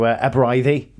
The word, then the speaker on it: Aberystwyth: So Aberystwyth, absolutely right.